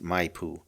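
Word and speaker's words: Maipu: Okay, it's spelled M A I P U. And I think it's pronounced Mayoo.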